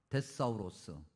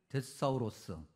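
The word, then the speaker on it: θησαυρός: 이렇게 발음합니다. 데사우로스. 비슷하죠? 아니 똑같죠? 예. 데사울이죠. 데사우로스.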